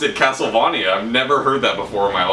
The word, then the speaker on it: Castlevania: That's how you pronounce it, Castlevania. People get that wrong a lot.